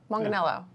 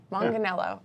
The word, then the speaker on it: Manganiello: Manganiello are you serious that's it Manganiello Manganiello okay so it's like it's like jello and manga I can remember that